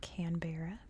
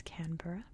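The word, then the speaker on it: Canberra: canura which one that is how it is pronounced it's not canbera it's canura and two the capital is not Sydney it's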